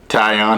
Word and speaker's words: Taillon: I had to look that up but yeah, that's apparently how they're saying I should pronounce it Jameson Taillon.